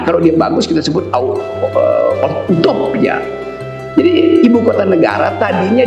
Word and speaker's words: utopia: Tapi orang semacam Thomas More yang menulis buku Utopia 1500 tahun lalu memakai istilah utopia, bacanya utopia.